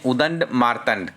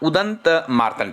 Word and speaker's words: उदंत मार्तंड: हिंदी भाषा में उदंड मार्तंड के नाम से पहला उदंत मार्तंड, ठीक है जी, माफी चाहता हूँ यहाँ पर थोड़ा सा प्रोनाउंसिएशन में।